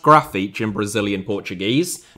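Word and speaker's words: Grafite: and uh just to clarify his name is pronounced graphite in Brazilian Portuguese not graphite or graffite before anyone says it in the comments like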